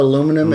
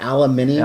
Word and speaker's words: aluminium: We call it aluminum, and you call it aluminium.